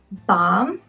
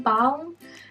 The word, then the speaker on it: balm: is an owl in balm but for some reason um i do not pronounce the l i don't think that most new zealanders would say l and balm we just say which